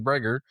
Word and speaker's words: Greger: It just his name's Greger. It rhymes with kegger.